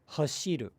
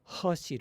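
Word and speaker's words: 走る: say things like hashiru, hashiru. But it's not hashiru, it's hashiru, hashiru. So generally speaking, it's better to more clearly articulate Japanese vowels, excluding the phenomenon of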